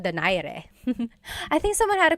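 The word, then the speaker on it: Donaire: So, our first poll here is going to be Mani Pacquiao versus Nonito Daire or is in in the Tagalog uh pronunciation. Nonito Dere.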